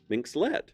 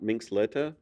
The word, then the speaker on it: Minxlet: Minxlet, not Minxletta or.